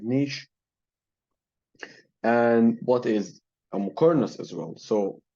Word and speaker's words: muqarnas: And what is a muqarnas as well? So muqarnas in Arabic, it's pronounced Muqarnas, and in Persian, it's pronounced Muqarnas.